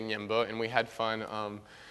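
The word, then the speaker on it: Ñemby: out into the um neighboring City U it's pronounced Nimo it looks like it's pronounced nmi but you say nyimo and we had fun um a lot of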